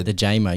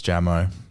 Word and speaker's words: Jammo: and he said he said your name wrong initially yeah the jamer yeah it's jammo but then I think